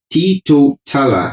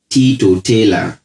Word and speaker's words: teetotaller: e r s pronounced it is a four four-syllable word now take note that tito tala as i have spelt